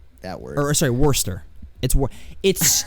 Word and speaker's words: Worcester: He ended up getting sent to Worcester. That word. Or sorry, Worcester. It's like okay, it's spelled like Worcester, but it's just said Worcester, I think.